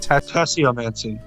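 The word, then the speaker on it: tasseomancy: Tasse-O-Mancy.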